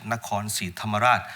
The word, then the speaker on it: Nakhon Si Thammarat: But in Thai, we pronounce it Nakhon Si Thammarat.